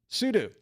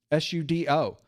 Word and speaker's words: sudo: Or as some people said, You need to say sudo. Well, either way is fine, quite honestly. One of the things about Linux is there is no proper way to say anything, it seems. Half the camps say you should say it one way, half the camps say the other way.